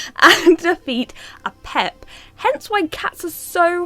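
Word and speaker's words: Apep: an evil serpent called a pep. Some people say a pepe.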